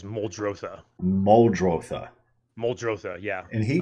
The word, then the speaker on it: Muldrotha: i pronouncing that right rob told me that you can pronounce it any way you want you can pronounce it any way you want but i think the real terminology is moldrosa moldrother moldrosa yeah and